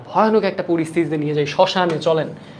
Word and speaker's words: শ্মশান: শ্মশান থেকে ঘুরে আসি শ্মশানের উচ্চারণ যদি আপনি দেখেন তাহলে আপনি দেখবেন এখানে একটা শ্মশান এখানে চন্দ্রবিন্দু রয়েছে এর উচ্চারণে চন্দ্রবিন্দু থাকা মানে কি চন্দ্রবিন্দু থাকা মানেই হচ্ছে সেটা কি নাকিস্বরে হওয়া নাসিক্য হওয়া সেই যে অ এর মত